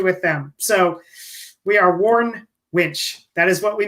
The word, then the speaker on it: Warn: but anyway i'd well i hear warren all the time i just got the new i warren wench i know warren yeah it's a um it's it's worn w-a-r-n one syllable and uh our products